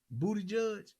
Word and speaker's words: Buttigieg: Buttigieg. That's how you say it. Is that how you pronounce it?